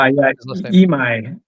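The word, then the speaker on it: Imai: I M AI. How do I pronounce him? Emi Suya Emi.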